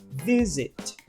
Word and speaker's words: visit: Perceba que o stress, que a sílaba tônica, é a primeira, visit.